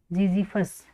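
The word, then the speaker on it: Ziziphus: हम बेर बेर का साइंटिफिक नेम क्या होगा जीजी फस जड आई जड वाई पी एच यू एस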